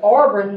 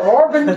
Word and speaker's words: Auburn: not from the south puts an extra R in there it they say Auburn the Orban tigers are here today and I want to say it's Auburn like all shs Auburn but they say Orban Tigers all right oil I